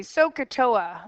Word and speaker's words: SOHCAHTOA: little funny to you it's actually we say soaa is how we pronounce it sooa actually stands for the three